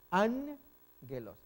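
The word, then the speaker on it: ἄγγελος: Entonces recordemos la regla, cuando dos G pegadas, dos NG, ángelos. Y siempre va a sonar G, no es J.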